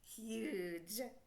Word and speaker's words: huge: up h u and we know G says J because of the e h u j makes what huge very good okay the